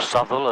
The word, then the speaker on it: Southwell: So that'll be Southwell. Yep. Or Southwell, as the locals say.